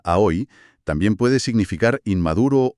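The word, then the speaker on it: 青: El kanji para azul, a o que se pronuncia a hoy, también puede significar inmaduro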